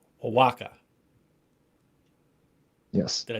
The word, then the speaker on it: Oaxaca: I believe the proper pronunciation is Oaxaca. Oaxaca. Yes. Did I say it right? Oaxaca.